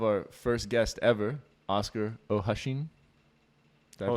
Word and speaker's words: O'Hoisin: How is it supposed to be pronounced? O'Hoisin.